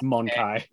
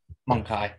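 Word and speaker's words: Mon-Keigh: you if you want the official pronunciation on that one by the way it's monkey monkey okay it's intentionally where it's intentionally written to sound like the Eldar calling humans monkeys because to them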